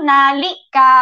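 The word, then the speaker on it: นาฬิกา: โ อ เ ค this second syllable is supposed to be high tone น า ฬิ ก า but because in but we don't stress the second syllable so it looks it sounds pretty much like mid tone okay น า ฬิ ก า really close to mid tone น า ฬิ ก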